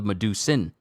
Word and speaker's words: Medusan: the medusan spell bow I've been saying this name wrong for this bow the whole time I thought it was the Medusa but it's the medusan I'm going to keep